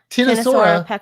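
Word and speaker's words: Ctenosaura: Tinosaura with a silent pectinata.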